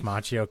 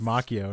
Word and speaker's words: Macchio: was pretty hilarious any kept saying it's actually pronounced Macchio and it's like it's a guy's name yeah I'm gonna tell you that's mock it's like I mean it